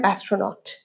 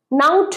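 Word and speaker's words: astronaut: হতে চায় না একটা মহাকাশ্চারী হতে চায় অ্যান অ্যাস্ট্রোনট প্রোনাউন্সিয়েশন কি অ্যাস্ট্রোনট নাউট নয় এন এ ইউ টি নাউট নো অ্যাস্ট্রোনট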